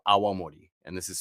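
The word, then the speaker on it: awamori: Japan's first spirit, honestly, that's called Awamorei. And this is spelled A W A M O R I.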